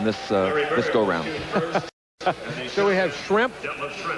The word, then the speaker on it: Schrempf: So we have Schrempf. If you mispronounce it a little bit and call it shrimp, and Bird, we kind of a fish and fowl.